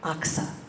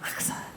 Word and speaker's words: Oxa: that had been named Oxa. I even looked up, it's an awful sound, Oxa, but that's how you pronounce it.